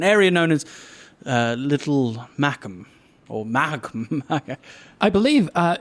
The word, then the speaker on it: Mahakam: temple district an area known as uh little mackam or magma i believe uh your first one is correct sir it's definitely not pronounced mahakam definitely no evil it's just very confusing it's